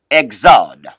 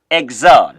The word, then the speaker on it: Exode: Of course, is pronounced in French, Exode. It's pronounced Exode.